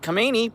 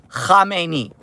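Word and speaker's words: Khamenei: some Israeli ordinance hit Kamani, but that's besides the point. And also, also my uh my Iranian friends are like, "David, you can pronounce that better than that." Yes. Kamei, not Kamani.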